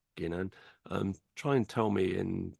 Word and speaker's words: Ginan: This star holds the traditional name Jinan. Ginan. Try and tell me in Slack. Try and show me phonetically how that's Ginan.